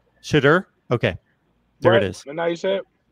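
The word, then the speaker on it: Shedeur: And we are a little bit sketchy on the pronunciation of his first name. Shadur.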